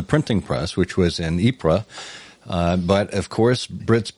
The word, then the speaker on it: Ypres: press which was in ipra uh but of course brits being brits they see ypres yipra and pronounced it as wipers classic tommy slang as they call it